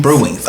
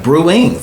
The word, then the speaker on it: BreWingz: These wings are from the infamous BreWingz. Is it Bree or Brew? Or BreWingz. BreWingz. Okay, yeah, BreWingz. Let me say it correctly.